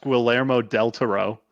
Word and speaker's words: Guillermo del Toro: watched Pan's Labyrinth gear Guillermo del Toro I can't speak right now I believe it's pronounced quill lair mo del Toro well well again well you need to roll your R's but in case you